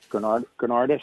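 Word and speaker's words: Gounardes: Granardis, I believe, how you pronounce it?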